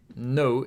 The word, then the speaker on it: の: two strokes の is pronounced like ‘no’ in ‘nose’ or ‘nori’ ‘Nori’ is a Japanese word See the big pig nose there?